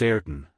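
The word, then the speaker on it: Ayrton: a mistake said the major kulie it is pronounced eron but it is written Ben Joyce chapter 41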